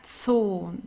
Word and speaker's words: Zoo: Please get used right from the beginning to the German Z, okay, it's very strong. Zoo, der Zoo. Okay, so here a long O also. That's so, but it's basically the same as in English. Here you also say zoo, right? You don't say so or so, so you say zoo. It's the same in German.